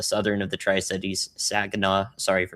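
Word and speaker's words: Saginaw: It again it should stay south to the the Tri Cities, the southern of the Tri Cities, Sagena, sorry for mispronouncing it earlier.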